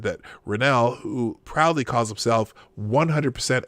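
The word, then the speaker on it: Reinoehl: Renell.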